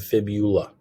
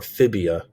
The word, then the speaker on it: fibula: have the fibula okay remember it's tibia and fibula remember to spell those correctly if you spell it tibula or phibia it's wrong okay so it's fibula and tibia okay and then the